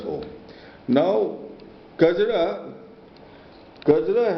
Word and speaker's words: Kajra: now because it up kajra has had several mispronunciations by several Tibetans tilopa was a contemporary of uh atisa he whom he he was born in jagoda jagoda is again a mispronunciation of kajra and he lived in